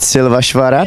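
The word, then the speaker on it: Szilvásvárad: I don't know how to pronounce it. Is it Silvasvarat?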